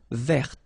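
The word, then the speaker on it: vert: So masculine form you don't pronounce the final t feminine form ver. So listen carefully I don't say t but it's t ver. Okay. So as usual this final uh only gives you the possibility to pronounce this t ver.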